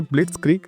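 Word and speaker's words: blitzkrieg: जो यहाँ पर ये वर्ड लिखा है ब्लिट्सक्रीग, पहले तो इसकी प्रोनाउंसिएशन ध्यान देंगे, 2 सिलेबल में तोड़ना है, ब्लिट्सक्रीग। और ये एक हमारा जर्मन वर्ड है, याद रखें ये जर्मन से लिया गया है, जर्मन लैंग्वेज से लिया गया है।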